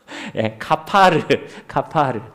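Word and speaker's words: כָּפַר: 카파르. 그러니까 이 말씀을 보면요, 너는 코페르 나무로 너를 위하여 방주를 만들되 그 안에 칸들을 막고 코페르를 그 안팎에 카파르 하라, 이렇게 기록되어 있다는 것입니다.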